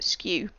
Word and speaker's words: SKU: what's called the SKU or sometimes pronounced skew sku stands for stock